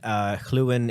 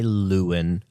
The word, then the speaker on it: Lluwen: So If you really want to, you can say Lewin or Luluin, But for anyone who has ever known anyone from Wales will be able to identify the double L is pronounced clue.